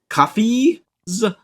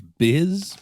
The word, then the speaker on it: Bh'izz: Some of you are not feeling great from your trips through the jungle and have taken of the natural lizard folk beverage Bh'izz, which has complicated or enhanced some people's experiences in the jungle.